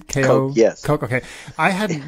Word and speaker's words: Koch: That's how you pronounce their last name? Koch, yes.